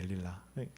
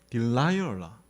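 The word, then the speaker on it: Delilah: 델릴라. 이제 발음이 딜라이얼라 이렇게 읽어야 되거든요. 그런데 이제 아마 한국 표기 그대로 이렇게 따오다 보니까 데릴라 이렇게 된 것 같아요.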